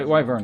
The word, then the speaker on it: Wyvern: accept yeah why W Vern is correct I would imagine it's another one of those terms that I'm fairly confident in the pronunciation of because I originally heard the pronunciation in Japanese W bong and it's written out because of the way Japanese is written it can't be read any other way and Japanese is generally